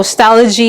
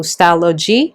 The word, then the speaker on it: Stalogy: So Stalogy is a combination of the word stationery and technology, so Stalogy.